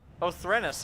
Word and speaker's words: Othrenis: Othrenis, I said it right.